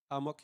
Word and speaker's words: Amok: I think you might not like it, but a mock. Can I say a mock? Or how do you pronounce it? Amok, yeah. Amok.